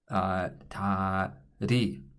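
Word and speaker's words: 다리: Now, the next syllable is, as I said, it's the same ri or li, and actually it's neither of those. It's ta-ri.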